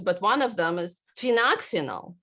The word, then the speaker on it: phenoxyethanol: They have right here, there's a ton of really bad ingredients, but one of them is phenoxyethanol, right? I can't even pronounce it. It's actually phenoxyethanol.